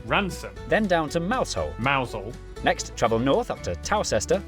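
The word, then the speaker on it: Mousehole: Then down to Moushole Mousel.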